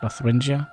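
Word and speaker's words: Lotharingia: Lothrengia.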